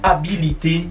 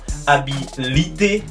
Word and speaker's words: habilité: À ne surtout pas confondre la prononciation de ces deux mots, habilité et habileté.